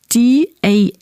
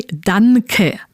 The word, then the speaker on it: danke: You don't want to pronounce the N sound like at the end of man, but it should sound rather like the sound at the end of ring.